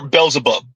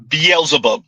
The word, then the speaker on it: Beelzebub: And the men are Beelzebub. Beelzebub. There you go, Z. You pronounced it the right way the second time.